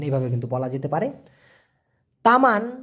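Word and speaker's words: teman: কিন্তু বলা যেতে পারে তামান মানে হচ্ছে বাগান আর তেমান টি ই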